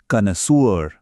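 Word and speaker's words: connoisseur: तो हमारा पहला शब्द है जरा ध्यान से सुनना इसकी प्रोनाउंसिएशन कनसुअर कनु नोए सर हिंदी में इसका मतलब होता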